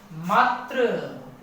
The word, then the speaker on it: मातृ: जिस प्रकार मात्र, अब ये मात्र शब्द मैं जो बोला वो मात्र गलत है। इसको पढ़ते वक्त आपका उच्चारण री से होना चाहिए मात्री।